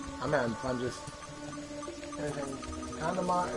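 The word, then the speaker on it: けん玉: Kandama is how you pronounce it in Japanese, but...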